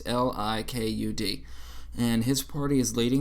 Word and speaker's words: Likud: I think I'm pronouncing that right. Likud. It's Likud.